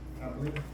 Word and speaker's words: hablé: Hablé. Hablé. Hablé. Hablé. So H is silent.